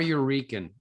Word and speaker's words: Yorican: Noir Eurekan, actually. Noir Yorican, like Noir Puerto Eurekan. Rican. Right, like a New Eurekan, but noir You kind thought of.